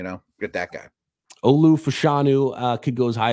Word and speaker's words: Fashanu: uh we've got olaia fashanu I know it's fashanu with the last name I I think I butchered the first name but offensive tackle from